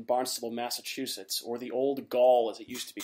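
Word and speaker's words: gaol: old jail in barnstable massachusetts or the old gaul as it used to be called right did i pronounce that right derek that's correct okay perfect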